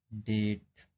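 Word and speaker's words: debt: जब टी से पहले बी आता है तब भी बी का उच्चारण नहीं किया जाता है। जैसे डेट जैसे यहां पर डी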